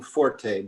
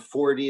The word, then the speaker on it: Forte: there are um well there are three correct pronunciations of my name for the last 10 or 20 years i've been using forte the more correct italian pronunciation okay so but um fort is also correct and 4d is what i used to use but um when i